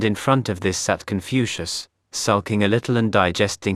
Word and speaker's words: Keungfautse: MacLeod pronounced MacLeod, and an elderly Pekingese called Keungfautse, pronounced Confucius.